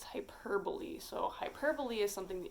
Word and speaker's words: hyperbole: right three is hyperbole it's not pronounced hyperbole it's not like the super bowl hyperbole no it's hyperbole so hyperbole is something